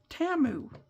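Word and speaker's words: Temu: for that company and they were pronouncing in the name of it TAMU and I go oh I've been saying it wrong for so long I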